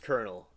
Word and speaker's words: Colonel: It's pronounced Colonel.